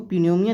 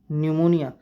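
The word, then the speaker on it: pneumonia: पी यहां पर silent होता है। कोई इसको पीनोमोनिया नहीं पढ़ेगा। निमोनिया एन पी एन यू पी एन ई यू एम ओ एन आई ए ओके निमोनिया।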